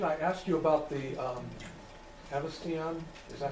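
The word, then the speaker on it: Haversian: And the reason I asked you about the Avestion, is that how you say it? Avestion canal? Aversian canal.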